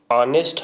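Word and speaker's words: honest: अब यहाँ पे एच आपका साइलेंट है, और हम हाँ और एन ऑनेस्ट, यहाँ पे ऑनेस्ट हम ऑनेस्ट इसको बोलते हैं।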